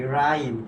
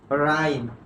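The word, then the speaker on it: rhyme: তাহলে দেখো এটা যদি আমি উচ্চারণ করি তাহলে হবে কি রাইম। কি হবে? রাইম।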